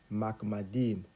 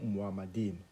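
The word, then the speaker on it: מחמדים: Donc, ces mots, dans le texte original, il est écrit Makmadim ou Muhammadim. C'est-à-dire, si je relis le passage, son palais n'est que douceur et toute sa personne est Muhammadim ou Makmadim, selon les prononciations.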